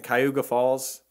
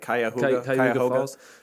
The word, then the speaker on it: Cuyahoga Falls: So Bob Berdella, he was born in Cayuga Falls. How do you say that? Cuyahoga Falls.